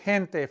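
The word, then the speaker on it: gente: he hey in Spanish like the word hente for people hente has that H sound in English the G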